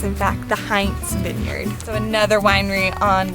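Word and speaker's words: Heintz: the heinz vineyard as heights ignoring the n but in sonoma county it's in fact the heinz vineyard so another winery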